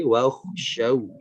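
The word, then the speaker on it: وَاخْشَوْا: Nah, catatannya adalah ada beberapa huruf yang sedikit kurang menekan ya secara pengucapannya, seperti di huruf shin dan juga huruf kha, seperti wakhshaw. Wakhshaw, dari shinnya kurang menekan.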